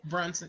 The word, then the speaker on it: Brunson: That's how you pronounce her last name? Quinta Brunson. Yes. Brunson. Yes, Quinta Brunson.